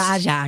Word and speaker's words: Mahjong: I've always pronounced it maang. Maang. However it's pronounced maang.